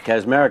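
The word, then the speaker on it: Kaczmarek: Ashley mil or Jane casmer oh Jane casmer casmer is how you say it hot dog or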